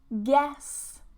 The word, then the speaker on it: guess: Guess, guess, guess. Remove the U.